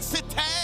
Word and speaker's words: sate: And Super Fan Sate. I I said it wrong. I I'm supposed to say it like that. Super fanat. There you are. It's like satai but sate.